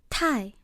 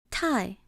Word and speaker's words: 太: 太, 太, too, as in too much of something.